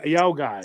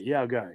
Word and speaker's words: yokai: just said it ya ya guy ya guy yeah which is yoai just like the word chi in China Chinese it's it's considered like